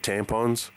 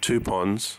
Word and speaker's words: Tupons: When I was a kid, for some reason, I used to think that was called tampons, but it was actually called tupons, like it says. But I mispronounced and translated it as thinking it was tampons.